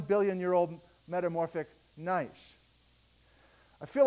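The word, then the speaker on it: gneiss: just north of wachi G NE I SS that's right you you guys are are geologists you know how to pronounce that right nice that's how you pronounce it nice G NE I SS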